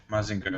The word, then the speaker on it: Mazinger: a uh maing mazinger right that's how you pronounce it yeah mazinger yeah there's like masinger there's like Gundam there's